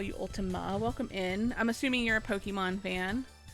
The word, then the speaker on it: Ultima: like Final Fantasy, because it's not Ultimate, it's Ultima. But yes, I can definitely call you Ultima.